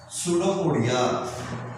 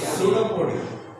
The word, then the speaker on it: Pseudopodia: Pseudopodia. What? Pseudopodia. Pseudo. P is silent.